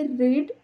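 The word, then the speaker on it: read: भूतकाळातलं आहे म्हणून हे रीड रेड वाचायचं आहे आय रेड a novel which was very interesting रीडचं क्रियापदाचं तिसरं रूप हे रेड स्पेलिंग सेमच असतं फक्त ते वाचताना रेड असं वाचायचं आहे आय रेड अ नॉवेल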